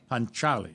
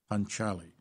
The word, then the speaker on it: Panchaali: Panchaali, soft C. Panchaali.